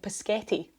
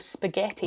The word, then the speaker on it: spaghetti: And so the example that they give in the Wikipedia entry is children saying Paschetti instead of spaghetti.